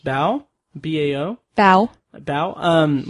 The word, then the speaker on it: Bao: I assume that it's pronounced Bao.